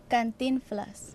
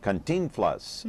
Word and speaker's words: Cantinflas: okay so uh and what's the correct uh pronunciation there cantinflas cantinflas okay mexico's and most beloved comic film star